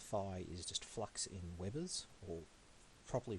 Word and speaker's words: Weber: Firstly, the phi is just flux in Webers, or properly pronounced Weber, because it's German, but we're going to say Weber.